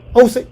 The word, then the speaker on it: Usyk: The reason why I think Usyk was, I can't even pronounce his name. Usyk, you said it right.